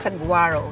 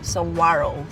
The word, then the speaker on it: Saguaro: They don't pronounce the G.